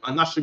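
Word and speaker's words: אנשים: Anashium. Anashim is how you say men.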